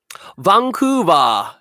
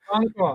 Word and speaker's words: Vancouver: See, no, so that is interesting because, yeah, why is it pronounced a B like in katakana instead of a V, which is written in English?